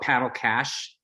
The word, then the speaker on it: Paddle Cash: We call it Paddle Cash. It rhymes with PaddleSmash.